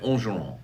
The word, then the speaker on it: Angeron: That's how he says his name. No, he doesn't. I met the man with his son at Pluckers at the Hudco Hat Party, and he said Angeron.